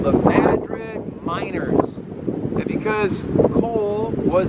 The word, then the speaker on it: Madrid: in madrid new mexico smelled like going to madrid spain but it's not pronounced that way madrid new mexico and back in the